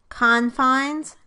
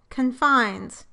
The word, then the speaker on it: confines: In all of these words, the word is a noun when the stress is on the first syllable, and a verb when the stress is on the second syllable.